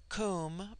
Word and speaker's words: Kum: Immortal Spirit viya immortality Kum pronounced like the Welsh Kum denotes something of hollow